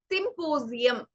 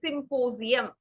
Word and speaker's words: symposium: ചില വേർഡ്സിൽ ഇടയിൽ എസ് വരുമ്പോ we pronounce it as the sound of Z, the 26th alphabet. So it is symposium. Okay, symposium.